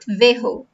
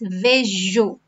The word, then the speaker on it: vejo: It's not vejo. It's not vejo. That's not the sound. It's vejo. In Portuguese, it's different from Spanish.